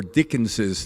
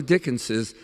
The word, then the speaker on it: Dickens's: and uh s two is it Dickens novels s uh or dickens's novels I do dickens's but I understand some